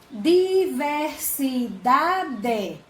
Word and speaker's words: diversidade: No caso, diversidade. Então, a palavra diversidade, a sílaba da é a mais forte. Ela não é a última, ela é a penúltima.